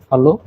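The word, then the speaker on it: Hallo: হুম, ওই যে ডান সাইডে উচ্চারণটা দেওয়া আছে হ্যালো। হ্যালো নর্মালি হলো হ্যালো, আমরা বাংলাও তো এটাই বলি, বাংলা বা ইংরেজিতে হ্যালো বা হাই, সেটা হচ্ছে জার্মানিতে হ্যালো।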